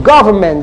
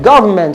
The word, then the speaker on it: government: 18 question 18 says see the first syllable go government government all right that's where the primary stress is let's go to question